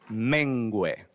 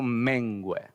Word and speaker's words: mengüe: Es necesario que Él crezca, y aquí viene una palabra que no es tan común, pero que yo mengüe. Así se pronuncia. Que yo mengüe.